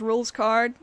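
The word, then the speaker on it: Rouxls Kaard: So his name is pronounced Rules Card. But it's just spelled funny.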